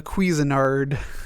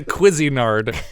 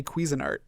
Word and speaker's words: Cuisinart: that doesn't mean it's good I the the Cuisinart the quizzinard cuisine I can't even say it wrong just